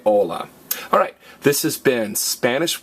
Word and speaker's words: hola: ed Amano because everybody what's the only silent letter in Spanish H and again we don't say whole la we say hola alright this has been